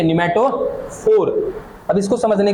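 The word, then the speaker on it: pneumatophore: इनको इंग्लिश में कहते हैं न्यूमेटोफोर। यहां पे पी साइलेंट है। ठीक है? न्यूमेटोफोर।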